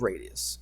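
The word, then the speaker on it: radii: mean it's plural right it's plural of radius okay and that's how you say it radi all right uh let's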